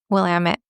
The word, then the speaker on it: Willamette: And then somebody online very helpfully did the rhyme of Willamette, damn it. Right. She sounded very trustworthy. So we're going to go with the rhymes with damn it, Willamette.